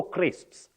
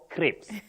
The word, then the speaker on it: crisps: say Phoenix M potato crisps potato crisps not potato Crips Crips no potato no Betty